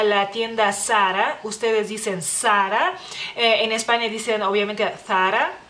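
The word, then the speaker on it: Zara: lugar es a la tienda Sara ustedes dicen Sara en España dicen obviamente Sara Sara digamos así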